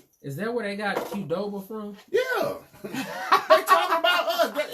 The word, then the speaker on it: Qdoba: Like, they still got the Doba, but they got the C-O-R, like how it's pronounced Qdoba. Because the C and the Q sound the same.